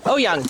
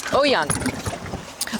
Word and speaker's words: Oyung: Oyung. Oyung. Oh, you're so young. Yeah. Perfect. There's no Oy. It's a Chinese name, and if you think of young, then just put an O in front of it.